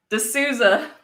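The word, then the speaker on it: de Sousa: name for some reason you're really good at pronouncing people's names d e space s-o-u-s-a-space yeah no apparently i said it right de souza he got it wrong by the way all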